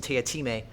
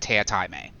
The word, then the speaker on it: Teatime: The joke for those of you at home is that it's spelled tea time, but he's very clear that it's not pronounced like that. It's a running joke in the text itself that every time someone comes across his name, they pronounce it tea time because, they're saying it in text, and he will immediately correct them.